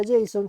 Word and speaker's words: JSON: Se pronuncia JSON, J-S-O-N, y es el acrónimo de la palabra en inglés JavaScript Object Notation.